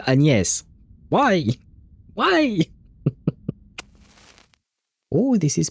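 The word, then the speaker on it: Agnès: Agnes say see why is she pronouncing it Agnes? If you're speaking French, then you should say the name with the French accent, which is Anes.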